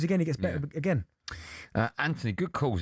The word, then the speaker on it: Anthony: Anthony, good calls. Anthony's an Arsenal fan. Hi, Ant. Yeah, mate. Are you Anthony or Anthony? Yeah, it is a TH, but we don't pronounce the H.